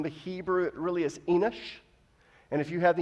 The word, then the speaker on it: Enoch: It really is Enoch.